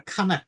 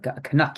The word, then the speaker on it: Canuck: a what standup a kanak standup isn't that yeah as in Canadian or kanak a put put the stress in the wrong word there syllable K Canuck yeah Canuck uh a